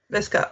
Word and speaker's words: Visca: How do you pronounce it? Visca. Okay. Like I'll viscous.